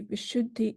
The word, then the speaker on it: Vishuddhi: One thing is very, about the terminology Vishuddhi itself. The term Vishuddhi, or this word, is a Sanskrit language word, and it means pure. But it is more than pure. So Vishuddhi, it is the pronunciation of Vishuddhi is consisted of two.